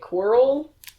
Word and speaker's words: Quirrell: Quirrell? Squirrel? Quirrell. That's how I say it. It's like squirrel.